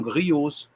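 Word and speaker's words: griot: ancestrais são mestres são grios ou se ou Grio do francês não se não se pronuncia s no plural são contadores de histórias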